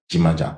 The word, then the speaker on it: Jimaja: C'est très bien, vous avez réussi à insister sur le J qui se prononce Djimadja. D'accord, Djimadja, parfait.